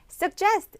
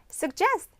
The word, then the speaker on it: suggest: 먼저 첫 번째 동사 suggest 이것이 바로 제안하다가 돼요. 여러분 발음이 조금 어렵죠. 왜냐하면 그냥 suggest가 아니라 J 앞에 G가 GG 두 개가 있으니까 약간 suggest 그가 살짝 있고 just로 넘어가거든요.